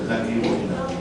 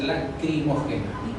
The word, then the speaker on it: lacrimógena: Pero no, es lacri, no es lágrima. ¿No es lagrimógena? Lágrima, o sea, la con G. De la primera entonces está la lagrimógena. Es lacri. O sea, la forma correcta es lacrimógena.